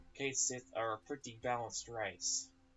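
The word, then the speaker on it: Cait Sith: I do, but yes, it's not pronounced as English word cat, it's Kate, like the name Kate. And it's not Sith, because it's not double E. It's a single I being Sith, so Kate Sith.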